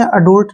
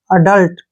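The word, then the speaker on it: adult: एडी यू एल टी इसको आपने अडल्ट नहीं पढ़ना है ए का उच्चारण ए के रूप में होगा और डी यू का उच्चारण ड के रूप में होगा ठीक है ल से ल हो गया टी से ट एडल्ट क्या पढ़ेंगे इसको एडल्ट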